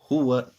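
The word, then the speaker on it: هُوَ: Ha Pesh Hu, Waw Zibr Wa, Huwa, Huwa. Now if you pronounce this as Huwa, that would be incorrect. So once again, Huwa.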